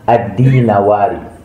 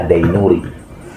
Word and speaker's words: Ad-Dinawari: Saya juga baca di internet kitab Al-Imamah Wasiyasah ditulis oleh Ibnu Kutaybah Ad-Dinawari. Bisa bacanya Ad-Dainuri.